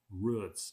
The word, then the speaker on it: route: occasionally pronounced the plural routes in the western way rhymes with puts but I never pronounced the singular that way that is I always pronounced route to rhyme with boot see that's of an